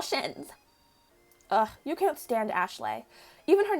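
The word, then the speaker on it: Ashleigh: When the name is spelled like that, not A-S-H-L-E-Y. When it's spelled A-S-H-L-E-I-G-H, it's Ashley. Hello, Ashley.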